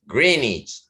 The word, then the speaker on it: Greenwich: Greenich se pronuncia en inglés, quiere decir pueblo de la vieja de la bruja verde, Green Witch.